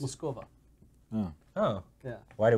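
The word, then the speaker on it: Москва: It's actually not pronounced Moscow. How's it pronounced? Moskova.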